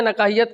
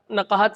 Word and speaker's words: نقاہت: سب سے پہلے تو نقاہت کو آپ نے نقاہیت کہا. نقاہت صحیح تلفظ ہے.